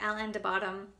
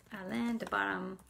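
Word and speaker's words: Alain de Botton: make you better and there's this book by ellen de bottom um called the course of love let me just make sure that i said it right um alain de bottom and i've actually seen a lot of his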